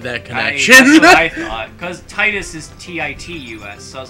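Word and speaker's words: Tidus: bomb and everyone everybody it shouldn't be pronounced that way there's literally no reason it's supposed to be titus like a tide that entire game is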